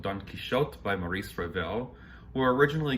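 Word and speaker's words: Don Quichotte: about the famous character don quixote in french pronounced don quixot from the classic epic so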